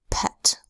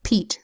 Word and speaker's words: Pete: a T that says it needs a silent final E so that the e is long eat without this silent finally the word would be pet and I don't know anybody named Pete that wants to be called pet now let's look at